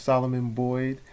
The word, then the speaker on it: Solomon Boyd: Is that correct pronunciation of your name? Solomon yes. Boyd. Yes, Solomon Boyd.